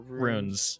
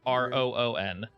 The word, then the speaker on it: rune: Or Runes. Sorry. Rune. My bad. Pronounce it Roon.